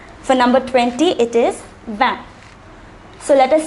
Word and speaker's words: vingt: For number 20, it is vingt. Notice that the T at the end is silent. For number 20, it is vingt.